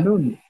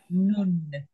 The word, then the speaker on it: nun: Look at my mouth. Noon. Ooh. None. I'm pulling it a bit of much, but noon. Not none. Or nen. Noon. Okay? None. Noon. Right. We spell it N-U-N. We spell it none, but we say nun. None. Yes, because that's the Hebrew way of saying this letter, which is, and there it is.